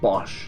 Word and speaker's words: Bosch: Bosch, yes.